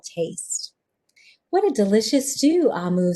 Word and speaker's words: Omu: note to the reader we pronounce o mu we pronounced so i i'm gonna correct my pronunciation amu it's the igbo term for queen ah move can you